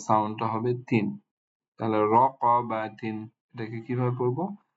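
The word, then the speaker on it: رَقَبَةٍ: এরপরে তা মারবু, তা আসছে এখানে তানবিন কাসরা সহ, এটার উচ্চারণ হয়ে যাবে তিন। এটা শব্দ বা সাউন্ডটা হবে তিন। তাহলে র ক বা তিন, এটাকে কিভাবে পড়বো?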